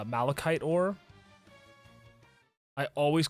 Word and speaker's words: malachite: I was like, yeah, Macalite? They're like, you mean Malachite?